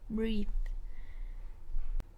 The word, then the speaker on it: breathe: are different in pronunciation so we have breathe in or breathe out which sounds like an e sound breathe and we have breath which is the noun and it sounds like an a sound breath next we